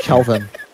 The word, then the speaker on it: Kelvin: It's actually Kelvin. His name is actually Kelvin. Oh, right. Kelvin, not Kevlar.